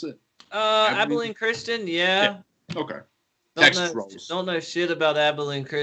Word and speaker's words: Abilene Christian: right now uh in 3c texas and uh abladin christian is that how you pronounce it uh abilene christian yeah okay don't know about